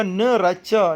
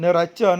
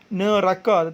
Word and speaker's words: Neraca: Yang ketiga, Neraca. Dan yang keempat, Al-Iman. Neraca, bukan neraka tetapi neraca.